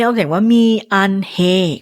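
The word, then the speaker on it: 미안해: โว คอง มี คำ นี้ ออก เสียง ว่า มี อันเฮ ก็ ได้ มี ก็ ได้ นะ มี ขอ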